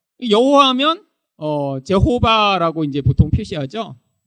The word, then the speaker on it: 여호와: 그래서 여호와 뭐 이렇게 이제 자음만이 있는데 아도나이 모음을 여기다 이렇게 표시해 본 거예요. 그래서 그냥 읽을 때는 이 아도나이라고 읽었는데 이 자음이 여기 있으니까 이게 야호와라고 돼서 여호와라는 발음이 생기게 된 거죠.